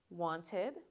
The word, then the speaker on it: wanted: if your word ends with T or D, you're going to make sure to make that ed sound. So for example, this is wanted, this is started, this is needed, and this is decided.